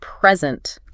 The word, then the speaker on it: present: Like for example, the word present can be a noun or a verb. Yeah. Right. And the stress changes depending on which one it is. Oh, I see. If you stress the first syllable, it means a gift. Okay. But if you stress the second syllable, it means to give something.